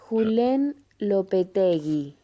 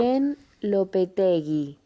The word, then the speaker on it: Julen Lopetegui: Julen Lopetegui. Julen Lopetegui. That's how you pronounce. Julen Lopetegui.